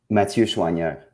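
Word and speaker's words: Mathieu Choinière: Mathieu Chouanière.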